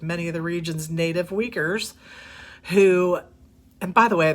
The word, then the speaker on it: Uyghurs: of the region's native Uyghurs, who, and by the way, that's spelled Uigurs, and it is pronounced that way, who represent Beijing's heavy-handed rule.